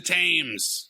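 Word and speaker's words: Thames: oh the river okay the terror of the tames stupid pronunciation for that river by the way it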